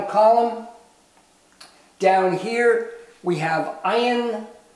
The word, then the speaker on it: ayin: Down here, we have ayin. It is the second silent letter. So two silent letters, aleph, ayin, they do not make a sound in themselves.